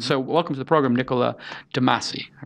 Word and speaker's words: Niccolo de Masi: So welcome to the program, Niccolo de Masi. I pronounced pleasure it correct, right?